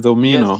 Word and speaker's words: Omino: It is Omino, Yes. sorry, not Can Omuno.